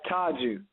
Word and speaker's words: Tajeu: It's Tajeu.